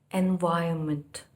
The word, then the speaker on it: environment: See, it is not in. I-N nahi hai na. E-N. It is environment. R is pronounced but very slightly.